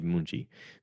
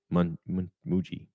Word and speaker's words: Muchi: She says, I want you to go save Munchi. Munchi's being held captive by these people. Muchi. Am I pronouncing it right? Muchi. Yeah, there is no N.